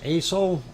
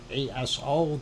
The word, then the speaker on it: Aso: That is ASO, ASO, the way it's spelled.